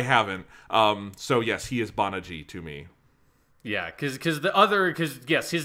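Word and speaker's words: Banagher: We're going with, like, a rough approximation of the Japanese pronunciation for just Banaji.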